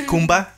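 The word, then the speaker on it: Khumba: Me imagino Kalimba. Yo creo porque como se escribe parece Kalimba. Es con Kumba. K. Y K-H-U-M-B-A.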